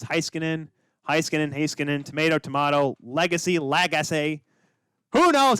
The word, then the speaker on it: Heiskanen: I used to say Heiskanen. It's Heiskanen, tomato, legacy, lagasse.